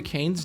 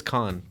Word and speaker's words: Cannes: this is lovely called Cannes is a king just like this er its Khan you're French yeah that's how you pronounce things if I took six